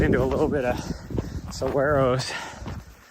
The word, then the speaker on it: saguaro: a little bit of saguaros, which I've discovered is how the locals say it, instead of saguaro, saguaro or something like that.